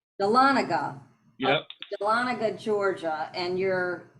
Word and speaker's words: Dahlonega: is and it's called is that how you pronounce it Dahlonega Dahlonega yep Dahlonega Georgia and you're in the Appalachian